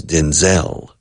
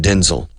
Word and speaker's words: Denzel: of his name is Denzel the stress is on the second syllable but I'm not sure Denzel Washington all my life I've said Denzil then well all my